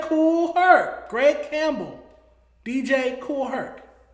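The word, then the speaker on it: Kool Herc: DJ Koolh. Okay, that's why you're you're saying hell weird. DJ Cool Herk. DJ Cool Herk.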